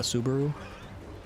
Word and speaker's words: Subaru: Personally, I like Al over Subaru or Seber, however you want to say it. I say it like the car company.